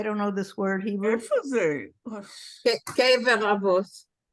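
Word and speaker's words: קבר אבות: Kever Avos. How do you pronounce it? Kever Ovis.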